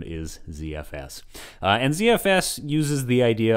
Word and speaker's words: ZFS: well start with ZFS my natural inclination of course is to pronounce it like Zed but you may you